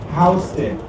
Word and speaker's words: Houston: Yes, that is pronounced Hston and Hen separates no from Soho.